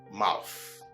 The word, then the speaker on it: mouth: Now, for the correct pronunciation, check out how my tongue virtually sticks out of my mouth through my front, upper, and lower teeth, releasing some air in the process.